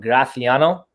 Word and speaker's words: Graciano: would be happy to this is our gra graciano in spain they pronounce that graffiano yeah it's indigenous to